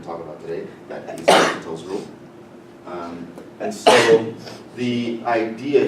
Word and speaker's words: L'Hôpital: And I forgot what this symbol is called, but it's pronounced L'Hopital.